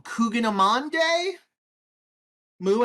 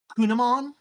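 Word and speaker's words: kouign-amann: to have at uh national i'm going to pronounce this wrong cougar monday moo as a former baker confirmer it's not pronounced like that it's kunamon um and we are looking at how to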